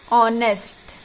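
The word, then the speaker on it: honest: जैसे कि एन ऑनेस्ट मैन, यहां पर देखिए क्या है ये ऑनेस्ट, तो किसका साउंड आया? ओ का। यहां पर एच साइलेंट होने के कारण ओ का साउंड आया, जिसके कारण एन का प्रयोग हुआ, एन एम एल ए।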